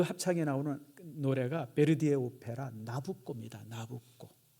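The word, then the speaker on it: Nabucco: 나오는 노래가 베르디에 오페라 나부코 나부코 그 나부코 바로 느부갓네살을 이제 이렇게 이태리 식으로 발음하면 그게 나코가 됩니다 그래서 여러분들 나부라 하는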